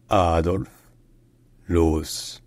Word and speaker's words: Adolf Loos: minim orentation in design in German his name is pronounced adorf L Adolf L Adolf l ad FL